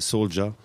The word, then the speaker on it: Souldia: Parce que Soulja de la Rive-Sud, ça s'écrit S-O-U-L-D-I-A, Souldia. Mm-hmm. Mais bon, ça c'est toujours prononcé Soulja, sauf que lui, il s'appelle Soulja comme un soldat.